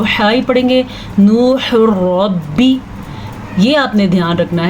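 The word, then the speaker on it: ربي: اس کو جوڑیں گے تو را زبر با رب، با زیر بی، ربی۔ اگر کوئی اس کو را بی پڑھے گا تو وہ غلط پڑھے گا، تو آپ نے ایسے نہیں پڑھنا، آپ نے پڑھنا ہے ربی، ٹھیک ہے؟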